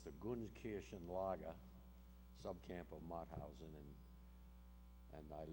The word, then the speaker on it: Gunskirchen: It's the Gunskirchen Lager subcamp of Mauthausen, and I live in Nanuet. No one pronounces that town right either.